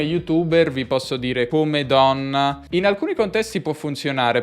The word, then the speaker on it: donna: buona pronuncia il come come dona donna poi con una doppia n do min la donna